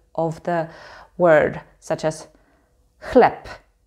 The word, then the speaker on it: chleb: the word, such as chleb. Chleb. Here the b is at the end of the word, so we say p, chleb, chleb.